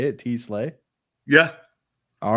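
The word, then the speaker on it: TeSlaa: And he'll have some stuff before that too, but I have no idea how to pronounce his name. So I was like, is that how you say it? T-Slay?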